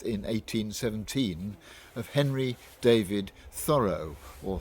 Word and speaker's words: Thoreau: Today is the anniversary of the birth in 1817 of Henry David Thoreau, or Thoreau as the Americans would pronounce it.